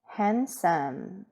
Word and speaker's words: handsome: 다음 잘생긴 할 때 여기에서 D는 소리 안 나는 거예요. handsome 이라고 하면 되죠.